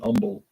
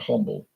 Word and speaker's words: Humble: Houston area Umble Texas they pronounce it Umble not humble that drives me nuts